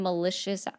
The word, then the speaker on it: malicious: Can you define malicious aforethought? I keep forgetting. I say it wrong. Malicious, it's like vicious, malicious.